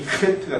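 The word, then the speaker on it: חית: 붙으면 이 헤트가 됩니다. 헤트. 헤트. 네. 이것도 우리말에 없는 점이기 때문에 한번 따라해 볼까요? 헤트. 독일어의 이 발음 있죠? 그것과 같은 것으로 보시면 됩니다.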